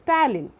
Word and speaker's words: ptyalin: So the salivary amylase is also known as ptyalin. P is silent, P-T-Y-A-L-I-N.